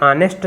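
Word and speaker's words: honest: कुछ लोग ए लगा देंगे, मगर ऑनेस्ट शब्द जो है वो आ से शुरू उसका प्रोनाउंसिएशन हो रहा है, कुछ को पता होगा तो वो एन लगाएंगे।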